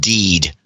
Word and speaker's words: Did: I would like to be known as Sir Did, pronounced Deed.